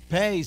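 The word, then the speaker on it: פ: Now, pay, say with me, pay. With a dagish, with a belly button, it's a pay, pe, pe, but without a fe, fe, fe.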